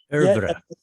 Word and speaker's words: oeuvre: Without a doubt, creation and its causes will claim a major place in the body of Meher Baba's literary oeuvre. I can't pronounce that French word. Oeuvre.